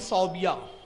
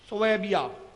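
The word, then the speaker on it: ثويبة: उसकी एक लौंडी थी सौबिया सोबिया सोबिया सही प्रोनाउंस उसका ला के सोबिया भी बोलते हैं लोग सुबिया जब आती है लौंडी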